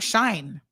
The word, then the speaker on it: Shein: Soka says Shein, we're all pronouncing it wrong, I think, is pronounced like shine.